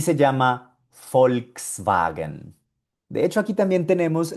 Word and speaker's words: Volkswagen: Y se llama Volkswagen. De hecho, aquí también tenemos la que acabamos de aprender anteriormente, la B corta que suena como una F. Volkswagen.